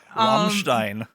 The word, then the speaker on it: Rammstein: With Rammstein. Rammstein. That's how you say it. You uncultured swine.